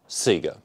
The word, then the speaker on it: Sega: Sega kid and yes in Australia we pronounce it Sega I grew up on